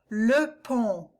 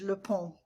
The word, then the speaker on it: le pont: Le pont. On. Nasal, and the T is silent, is bridge. Le pont.